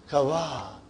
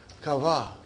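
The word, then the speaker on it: كوى: Kawa. Actually, it is kawa ya. But then that ya became alif. See, no two dots. Remember, kawa.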